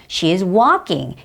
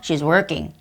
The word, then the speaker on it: walking: 하지만 발음적인 부분이 본인이 턱을 충분히 벌리지 않아서 walking, she is walking, he is walking 이렇게 해야 되는데 그냥 조금 벌려서 she is working, he is working 일하고 있어요.